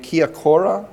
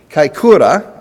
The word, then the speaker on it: Kaikoura: the 2016 MW 7.8 Kiakura. Did I pronounce that correctly? Kaikoura.